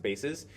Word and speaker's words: bases: This word bases has two pronunciations, by the way, the little English trick here. This could be bases, if you have a base, like an army base, and you have many different bases, then it's pronounced bases. But when it's spelled like this, it can also be bases, which is on the basis. It's a plural for basis, which is an I right here.